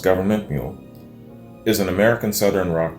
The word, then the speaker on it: Gov't Mule: hit this up man government mule uh pronounced government mule is an american southern